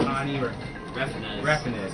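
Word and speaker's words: Tommy Refenes: that call themselves Team Meat, Edmund McMillan and Tani Reffinez. Okay, that's how you pronounce it.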